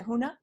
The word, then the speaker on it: Huna: opportunity to experience today Hawaiian Huna do I have that pronounced right is it Hoonah absolutely perfectly yes wonderful and this is